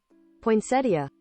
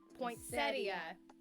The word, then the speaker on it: poinsettia: This is how you correctly pronounce Poinsettia. Poinsettia. Because it has the I before the A on the end. Poinsettia. So it's settia. Instead of poinsettia.